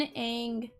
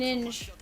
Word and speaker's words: Inge: How about a little Brandon Eng?